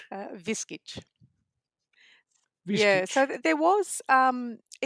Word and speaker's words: Viskic: Uh, but the pronunciation has always stayed as Viskic. Mm. Viskic.